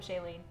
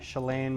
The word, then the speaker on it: Shalane: welcome, Shailene. I will. Shalane. Is it Shalane? Shalane. Shalane.